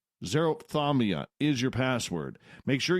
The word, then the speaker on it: xerophthalmia: Xerophthalma. Oh, I butchered that. Xerophthalmia. Xerophthalmia is your password.